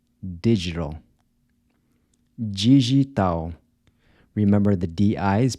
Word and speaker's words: digital: How would you say “digital”? Digital —remember the “d-i” is pronounced like a “j” and the “l” at the end sounds like a “w”—“di-gi-tal”.